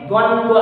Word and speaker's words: द्वंद्व: इसको उच्चारण आप लोग थोड़ा सुन लेना बच्चों, क्या इसको पढ़ेंगे? द्वंद्व समास।